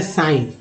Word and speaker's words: sign: के साथ आते हैं, जैसे आपने देखा होगा SIGN, ठीक है, उच्चारण करते हैं साइन, साइन करते हैं तो जी का उच्चारण कहाँ गया, जी से तो ग होता है, जी से